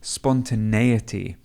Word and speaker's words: spontaneity: Don't forget that the word spontaneous is quite a difficult word to pronounce, and the noun of it is spontaneity.